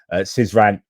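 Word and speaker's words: Syzran: I pronounced it incorrectly. Anyway, Sizan, that's been targeted multiple times previously.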